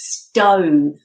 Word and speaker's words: stove: Yeah, so the odd one out is stove, because we pronounce that with a long O sound. Stove. Whereas the rest, the OVE, is pronounced with an of sound.